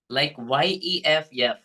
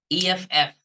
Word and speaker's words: F: Okay, because many Telugu people pronounce this letter, sixth letter F, like YEF. Okay, right? So then it becomes like yef. That is wrong pronunciation. Okay, the correct pronunciation is like EFF.